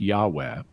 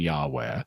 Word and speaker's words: Yahweh: the so-called tetragrammaton, which in English is commonly pronounced Yahweh, that just by saying the name Yahweh, you